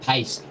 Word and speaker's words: Page: I wish his name was actually pronounced Pace, because that would be so good for puns. But as it stands, his name is actually pronounced Page, which makes it slightly more difficult to make a joke like that.